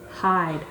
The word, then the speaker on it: hide: just to make sure oh i see a silent e which makes skips over makes this one say its name i'd hide hide quietly i think